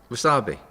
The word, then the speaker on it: wasabi: can have that that it's a w that's pronounced like a v is it really number